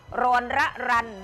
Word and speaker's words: รรรรรร: เด็ก อย่าง เงี้ย คือ สามารถ อ่าน ได้ 2 แบบ รอน ระ รัน หรือ ระ รัน รอน อ่าน ได้ 2 แบบ ที นี้ พอ ถาม เขา ก็ บอก ว่า ชื่อ ของ เขา ว่า อ่าน ว่า ระรันรอน คะ อ๋อ เด็ก ชาย